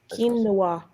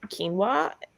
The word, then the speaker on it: quinoa: can show a picture of it forget it it's spelled q-u-i-n-o-o-a angela eats it all the time quinoa i think she puts it in my food